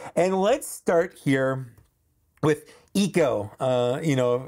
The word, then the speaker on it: Echo: You know, that's how Omega or Omega pronounces it. She pronounces them all weird. Eco, Teak, Hunta, Rika, because she has a New Zealand accent, and that's how they say those things.